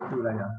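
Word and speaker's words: Thuraya: Suraya is for those who know Arabic, it is Alif Ba Ta Sa. So it pronounced as Suraya.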